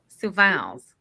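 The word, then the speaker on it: Sioux Falls: City kid and Su you gotta say it like sus sus su falls su falls su falls s IO u x like the Native American tribe Sue and then Falls like waterfalls and the are pretty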